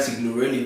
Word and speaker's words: Signorelli: Number one book on this list is Inbound Selling by Brian Signorelli. That's how it's pronounced.